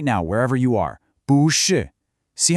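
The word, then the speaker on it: 不是: So when two heavy, falling fourth tones collide, Chinese elegantly solves the problem by changing the first tone to a rising second tone. So you always say 不是 instead of 不是.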